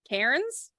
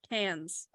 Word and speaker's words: Cairns: yeah it's spelled c-a-i-r-n-e no rns cairns yeah but we don't say ours in australia remember yeah so it's it sounds like cans like what you take to the bottle depot yes no well what